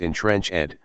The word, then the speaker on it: entrenched: instead deceitful crooked ways it's got to be pronounced in trench Ed or the meter will be off Socrates remarked you're quibbling